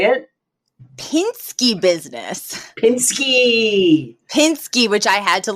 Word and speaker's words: Pishke: titled toriia can you say it Pinsky business Pinsky Pinsky which I had to look up how